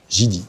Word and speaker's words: Jedi: Mais par MH, Jidi. Jidi qui s'écrit Jedi est une marque chinoise que MCH essaie d'implanter sur le territoire au travers de produits réadaptés à notre marché.